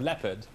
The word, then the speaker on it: leopard: We have leotard so often, but we don't call it letard. But we have leopard, which is spelled almost identically. We call it leopard.